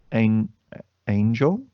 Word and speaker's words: Angel: My boys, the Street Profits versus Angel.